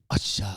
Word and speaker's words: Usher: we also haven't said Usher properly since we've come in the door there's only two ways there's only one way to say usher and you have to say it like Asha Asha you got to